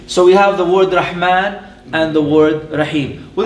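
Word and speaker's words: رحمن: So we are going to write the word Rah, and we have Alif Saghira, the little Alif here, although it's pronounced fully and completely Rah Man, and the sister is Rahim.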